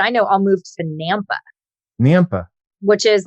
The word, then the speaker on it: Nampa: know all moved to Nampa. Which is like, it's like an hour outside of Boise. Yes. I know, and it kind of confused me because it's like Napa with an M, like Nampa.